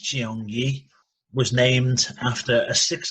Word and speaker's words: Cheongye: a martial arts place the second word cheongye pronounced jiong yi was named after a six kilometer stream that